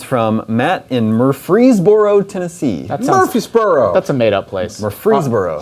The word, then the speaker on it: Murfreesboro: about the witness from Matt in Murfreesboro Tennessee Murphysboro that's a madeup Place Murfreesboro home of the